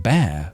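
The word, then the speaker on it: Bexar: Where I lived is is called Beexar, but it's pronounced bear.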